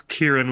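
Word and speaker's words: Ciarán: they're done casting yet I think it's Kieran with the K Kieran with it man I'm just blowing every single it is spelled with the c but think of kelleborn and think of calabrian I think the letter c followed by vowel with that kind of language like hearing Coke and not Sheeran like Ed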